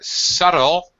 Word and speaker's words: subtle: want to note here subtle very common word in English subtle flavor subtle flavor can I say sub no you can't no the the be is mold mold the the B is silent silent yes yes right